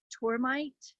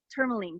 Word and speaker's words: tourmaline: But I'm just like, you know, like the rocks, like I said to you, I want some of those tourmite. Am I saying it correctly? Tourmaline, thank you.